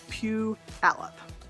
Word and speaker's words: Puyallup: The first one is Puyallup. So Puyallup is a tough one because people get messed up by the Y. Ignore the Y, and it's Puyallup.